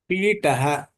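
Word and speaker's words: पीठः: Pitaha. Pitaha. You have to say the Mahapranaha because Thaha is Mahapranaha.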